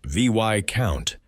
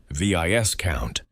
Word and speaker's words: viscount: Continuing down the ladder, the vic count, pronounced vy count, not viscount.